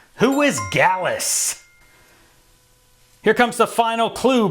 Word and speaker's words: Gallus: And the name of the stable rhymes with Callus. Who is Gallus?